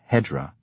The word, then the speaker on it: Hijra: The era is reckoned from the vernal equinox before the Hijra, in Farsi pronounced Hedra, 21 March AD 622.